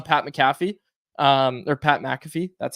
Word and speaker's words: McAfee: Hughes go on Pat mcff um or Pat McAfee that's how you say it um as much